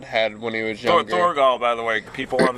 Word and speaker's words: Thorgal: Thorgal, by the way, people on the internet, if you want to find it. Yeah, Thorgal. I'll spell it for people.